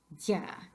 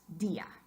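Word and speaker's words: día: Just try, I dare you, try to say that word in one syllable. It sounds something like tía, dia. And obviously, we don't say that. We want dia.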